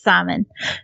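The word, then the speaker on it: Szymon: pronounce the same simon i know that it's like polish and it's like simon or something it's s-z-y-m-o-n um but in english english it's simon and i'm redneck so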